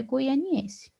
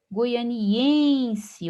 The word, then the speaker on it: goianiense: Goianiense, observe que a sílaba tônica é o em.